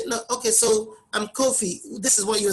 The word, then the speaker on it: Kofi: I remember many years ago in uni, they used to call me Kofi. And I kept saying it's Kofi, but they said Kofi. They couldn't pronounce it, you know.